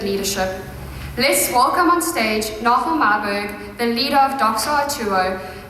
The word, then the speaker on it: Nagel Myburgh: It's not Nagel Myburgh, it's Nagel Myburgh.